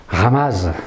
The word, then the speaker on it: Rama: village de la rame Rama ça s'écrit mais on dit rame en italien et donc